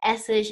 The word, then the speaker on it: Essig: ich i-g and again-ish note the exact same pronunciation there even though the spelling's different as in foisling essege and tepes right and